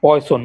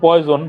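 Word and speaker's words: Poisson: হ্যাঁ, আমি লিখতেছি আবার, পয়সন মানে যে বিষ আছে না, বিষ, হ্যাঁ হ্যাঁ, যদি এটা উচ্চারণ পয়জন, বাট এই সায়েন্টিস্টের নাম পয়সন। আচ্ছা।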